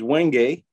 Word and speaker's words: wenge: these are little hearts this is wenge or wenge i guess some people call it but i have always pronounced it wenge and i just carve